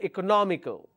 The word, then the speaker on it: economical: But ICAL is my ending. The ending itself has 2 syllables. And I need to stress on the third one. 1, 2, 3. So I will say economical.